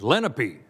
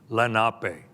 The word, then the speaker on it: Lenape: perhaps heard it as Lenape but the proper pronunciation in the unami dialect of the Lenape language the proper pronunciation is Lenape meaning the original people